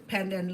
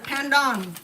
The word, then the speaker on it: pandan: And it's not panda, it's pandan.